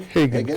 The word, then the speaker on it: Haggan: Is that pronounced correctly? Haggan, correct.